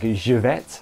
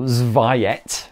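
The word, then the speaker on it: Żywiec: the ridiculously named beer, like Jivet, I believe was one of them, or Zviet, as I was pronouncing it at the time.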